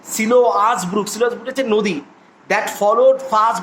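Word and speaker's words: Siloa's brook: এবং শুধু তাই নয়, উচ্চারণটা হবে সিলোয়াস ব্রুক হচ্ছে নদী, that followed first by the oracle of গড, যেটা ভগবানের অরাকালের সামনে আসতো, ঠিক আছে?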